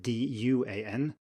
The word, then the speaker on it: duan: be pretty clear if you contrast the g-n we just had now with duan which is spelled d-u-a-n and here we have a normal an so it should be duan and tu n and